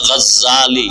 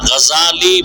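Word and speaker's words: গাজ্জালী: বলে গজ্জালি না, গজালি বিশুদ্ধ উচ্চারণ, গজ্জালি না।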